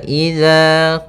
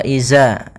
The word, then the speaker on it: إذا: Pada bacaan wa idza qila lahum, hati-hati dalam pelafalan huruf dzal, jangan sampai ini merubah menjadi huruf zai. Yang mana di sini harusnya adalah dzal, bukan huruf zai. Jangan diganti dengan wa iza, tapi dia huruf dzal.